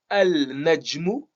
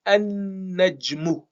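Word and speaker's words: النجم: rendre définie, eh bien, on va pas prononcer le lam. On va supprimer le lam, mais on va doubler le nun. Ce qui va faire qu'on prononce plus le lam et on va dire an-najmu.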